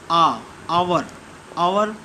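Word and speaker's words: hour: इसका प्रोनाउंसिएशन है आवर, इसलिए यहाँ पे एन का यूज किया गया है, यानी कि आ से अहाँ तक में आया है।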